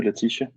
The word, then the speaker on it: Laetitia: um it is so great to see you latisha is that pronounced correct that's that's correct good morning martin